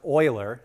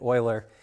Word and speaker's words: Euler: The name is pronounced Euler. It might not look like it, but that's how you say it-- Euler.